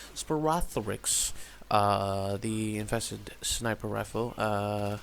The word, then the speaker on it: Sporothrix: Yeah, that's how it's pronounced. Sporothrix.